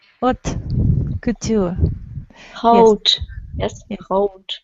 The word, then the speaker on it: haute couture: Because these letters are not read in French.